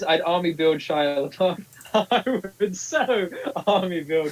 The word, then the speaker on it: LaBeouf: Is it LaBeouf? LeBeau. I'd say Shia LaBeouf. I'd say Shia LaBeouf, and people know who you're on about.